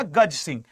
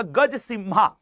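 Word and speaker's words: Gajasimha: गज सिम्हा। एक्चुअली गजस सिंघा या सिम्हा भी आप कह सकते हैं क्योंकि स्पेलिंग में एमएच ए है। एम एच A that is गज सिम्हा।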